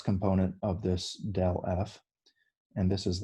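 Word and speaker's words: ∇f: upside down delta f okay and we would pronounce that del f okay um so this is a vector so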